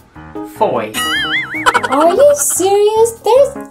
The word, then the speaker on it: Fowey: Fowey. Nope. Fowey? Nope. Fowey. Nope. What is that word? You pronounce it Foy.